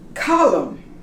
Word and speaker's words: column: up to here autumn column you don't pronounce the end him and is out